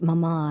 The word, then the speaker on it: mama: She was extraordinarily polite and called their parents mama and papa with the emphasis on the second syllable.